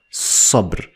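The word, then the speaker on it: صبر: two parts but they are separate and it's pronounced as sub I'm using this simple for the sod to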